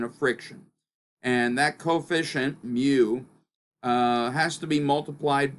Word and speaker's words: mu: I believe if we were Greek, we would call that mi, but we're going to call that mu.